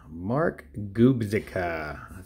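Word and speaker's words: Gubicza: Mark Gubzica.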